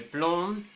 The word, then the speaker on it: plomb: Le B en el caso de plomb, le C en el